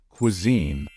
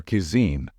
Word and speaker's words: cuisine: was easy for you the correct pronunciation of this word is Cuisine never pronounce it as Cuisine or kisine that's incorrect the only right way to pronounce it is Cuisine those are the decorations